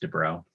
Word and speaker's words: de Broglie: write this down but de broglie but i think it's pronounced de bro anyway that tells us